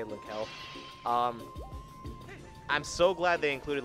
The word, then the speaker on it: Linkle: I'm really happy they included Linkel as a well, I know it's pronounced Linkle, but I'm just gonna say Linkel.